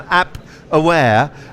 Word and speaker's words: Appware: I've got Richard Eaton with me at the moment from Appware, app that rhymes with cap.